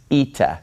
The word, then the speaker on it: Eta: a little bit further this letter is pronounced eita so we have Zita and then we have ITA's eita says and eita makes an e sound this is a vowel